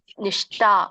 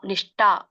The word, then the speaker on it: ನಿಷ್ಠ: ಹೇಗೆ ಹೇಳ್ತೀರಾ ಗೊತ್ತಾ ತೇಶಾಂ ನಿಷ್ಠ ನಿಷ್ಟ ಅಲ್ಲ ತೇಶಾಂ ನಿಷ್ಟಕ ಕೃಷ್ಣ ಶನು